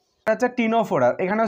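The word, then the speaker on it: Ctenophora: তারপরে 3 দাগে আছে, এটারও সি আছে কিন্তু উচ্চারণ হবে না। এটা হচ্ছে টিনোফোরা, এখানেও সি আছে, TENO PHO ফোরা।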